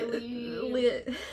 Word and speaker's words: Lee: By Lee Lee Rivers. Yes. Yes. I always want to say her name is Lynn and that is not right.